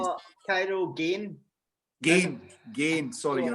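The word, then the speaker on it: Gane: Kane? How do you say it? Cairo Gain. Gain.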